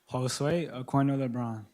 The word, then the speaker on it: Josue Aquino Lebron: Josua Akindo Lebron. Did I pronounce that right? I didn't. Josue Aquino Lebron.